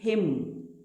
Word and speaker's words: hymn: वैसे HYMN, इट इज़ हिम, न नहीं पढ़ते, हिम न इज रॉन्ग, हिम।